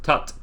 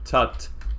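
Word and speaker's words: Tutte: it uh in this in this footnote describes that the uh correct uh pronunciation i think is tucked okay uh so i've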